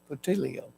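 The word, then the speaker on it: Puteoli: we came to ptil ptio I looked that up so I know how to say it ptio and so now they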